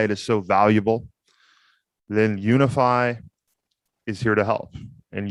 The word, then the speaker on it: Unifi: brought to you by unify commerce say with me now unify commerce yes guys that is spelled u n i f i commerce dot com guys